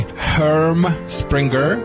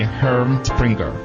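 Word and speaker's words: Herm Sprenger: And my answer would be Herm Springer, it's a German, Herm Springer dog training colors.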